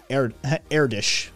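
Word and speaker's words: Erdős: e r d o with um lots s airdish i've been as i've been told is the correct pronunciation on it um yeah e-r-d-o two dots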